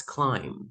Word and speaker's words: climb: one repeat after me say climb climb yes there's no B that's climb yeah climb Wednesday Wednesday